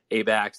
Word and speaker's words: Abaxx: have a discussion about abac's technologies uh and i won't call it a bax i'll call it abax technology somebody corrected me on